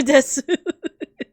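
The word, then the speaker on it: です: That's true, desu. Oh yeah, that's actually a good example. The desu at the end would actually be pronounced like des.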